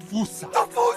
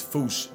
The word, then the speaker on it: fossa: Basically the A at the end is like almost silent.